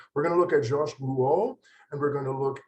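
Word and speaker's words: Jacques Lipchitz: Jacques Lipschitz, and it's not pronounced Rouault or anything, it's always difficult to get my students to pronounce it, but Jacques Lipschitz, he didn't like to be photographed.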